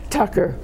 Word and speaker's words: Tucker: What's the real pronunciation? Tucker.